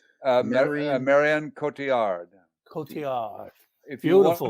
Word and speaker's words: Marion Cotillard: How do you should- pronounce her name? Marion- Marion Cotillard.